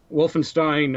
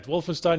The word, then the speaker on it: Wolfenstein: the second letter like EI is pronounced I as in Stein and i e is pronounced e as in WEA okay there you go but yeah Wolfenstein New Order is a